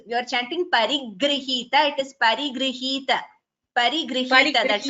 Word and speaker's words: परिगृहीत: Please note the pronunciation of that word. Parigrihita. There is no extra. Bharadwaja Shasana Parigrihita Vichitra Chitrakootagiri Kataka Tata Ramyavasatha. You are chanting Parigrihita, Bhagini. You are chanting an extra G.